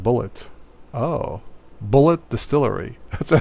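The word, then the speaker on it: Bulleit: need to brush okay I don't pronounce bullet pronounced bullet Oh bullet distillery that's a hell of a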